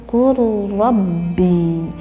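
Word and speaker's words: قُلْ رَبِّ: huruf yang kedua sehingga membacanya tidak qul rabbi tetapi yang betul qul rabbi. Lamnya tidak tampak terdengar jelas oleh kita, ya, qul rabbi.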